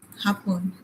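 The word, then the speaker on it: Japón: হাপন। যে উচ্চারণ আমরা ওই যে বললাম না হোতা, হোতা।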